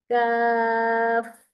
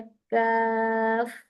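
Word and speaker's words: كاف: कुछ लोग इस काफ को कैफ बना देते हैं। लेटा हुआ है कैफ। कैफ तो कैफ भी नहीं पढ़ना। देखिए इसके स्पेलिंग लिखे हैं काफ। अलिफ कफ। ठीक है? काफ बस मोटा नहीं करना प्लीज।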